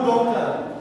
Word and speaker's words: daughter: daughter itu anak perempuan daterulisannya ya Siapa mau dater dater dater dater huruf g ya dater itu